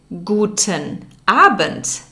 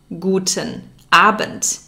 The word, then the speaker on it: guten Abend: p.m you would say guten abend guten abend there's a d at the end of aband but it's pronounced like a t we'll learn more about